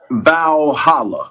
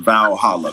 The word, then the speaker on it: Valhalla: Valhalla. I think you pronounce it vowhala. V a l h a l l a.